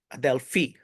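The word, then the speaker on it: ἀδελφοί: where is the stressor? Oh, in the end, so Adelphi.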